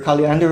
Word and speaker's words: Kaliander: Kaliander is it? Yes, I am. Okay. So, am I pronouncing your name right? Yes, Kander. Yes, you pronounce it correctly.